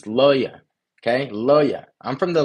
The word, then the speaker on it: Luhya: It's Loya.